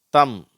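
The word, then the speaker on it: thumb: அதுல wன்ற சவுண்டு வரல அடுத்தது எம் பி இந்த இரண்டு எழுத்துக்கள் சேரும் பொழுது எம் மட்டும்தான் உச்சரிக்கப்படுகிறது பி உச்சரிக்கப்படுவதில்லை வெறும்னா ம் அப்படிங்கிற சவுண்டுதான் வருது வார்த்தைகளை வாசிக்கிறேன் கோ லேம் தம் அதற்கு கீழே உள்ள கட்டம்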